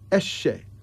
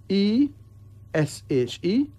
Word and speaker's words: Eshe: Eshe. E-S-H-E. Pronounced Eshe.